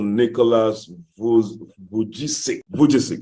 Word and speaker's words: Nicholas Vujicic: If you can remember you type it, I time pronouncing his name, Pastor somebody help me out, please. Pastor Nicholas Vujicic, yeah.